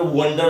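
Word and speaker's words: wonder: वंडर देखो बोलते हो वंडर बोलते हैं वंडर, हालांकि ओ है पर ओ की आवाज उस नहीं आती, सीधा बोलते हो वंडर।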